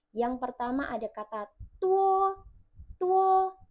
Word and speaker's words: 多: Tuwo pakai D. Nah, D-nya ini dibaca seperti T. Tua.